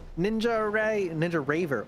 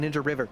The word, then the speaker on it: Ninja Raver: Ninja Raver. Oh no, was I saying their name wrong the whole time? I was saying Ninja River.